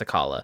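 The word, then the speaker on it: Akkala: Yeah, it's a Kala. I say Akala.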